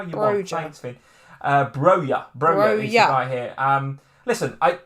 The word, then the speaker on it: Broja: It's pronounced Broja.